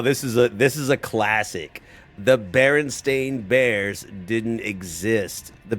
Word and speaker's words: Berenstain: The Berenstein Bears didn't exist. It was always the Berenstain Bears. The Berenstain, right? The lovable cartoon bear family actually spelled with an A, not an E.